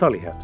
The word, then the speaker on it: Holyhead: Boy or is it holyhead Holly it's Holly hat yeah Holly can I feel like it's built holy well maybe it was maybe that's what it was supposed to be originally but people have mispronounced it right mispronouncing mispronounced foreign